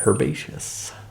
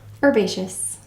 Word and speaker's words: Herbaceous: Herbaceous. Herbaceous. The H is silent.